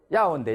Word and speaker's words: 要: 요자가 발음이 어떻게 됩니까? 要 예. 야오인데 야오 사성입니다.